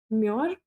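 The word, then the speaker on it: murre: U this is a common mure mur. How do you pronounce it?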